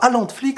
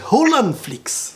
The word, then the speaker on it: HaalanFlix: générique hollande flix non c'est pas allant de flics c'est au lam flix ça sonne mieux donc on le prononce comme ça il fallait le